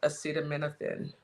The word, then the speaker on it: acetaminophen: FDA will be notifying physicians that the use of well, let's see how we say that acetamin acetaminophen.